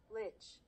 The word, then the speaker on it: lich: I need to look up how to pronounce. Lich.